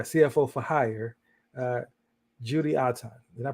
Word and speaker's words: Otton: for hire uh Judy OurTime did I pronounce it correctly yes uh and just like cotton okay great how you